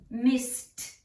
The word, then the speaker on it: missed: When vowel suffix ED comes after an unvoiced letter, it is pronounced t, t, like missed, helped, jumped. Why? Because the S and the P are unvoiced. That means you do not use your vocal cords, you use your breath.